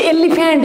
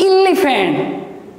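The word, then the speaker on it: elephant: जमती गोटे छोटिया कथा मुझे कहबी ना, दिस इज या आम छुआ बेल समस्ते पढ़ी एलिफेंट, एलिफेंट आमको शिखा जाइए, बट it's right pronunciation is इलिफेंट।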